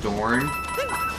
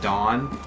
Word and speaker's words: Dorne: I like horribly mispronounced Dorne. Like through the whole episode I'm calling it Dawn. Like the sword.